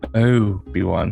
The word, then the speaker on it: Obi-Wan: name of his character he doesn't say oh be one he says oh obi-wan obi-wan which is a much more american pronunciation than he would normally do now that's a name